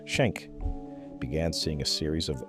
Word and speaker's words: Schenck: At the Minnesota Regional Sleep Disorder Center, a neurologist named Carlos Schenck, pronounced Schenck, began seeing a series of elderly men referred for violent behavior during sleep.